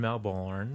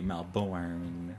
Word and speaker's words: Melbourne: In Melbourne.